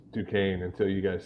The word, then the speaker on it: Duquesne: know how to pronounce duquesne until you guys said it there's an s in there i guess it's silent i got nothing pittsburgh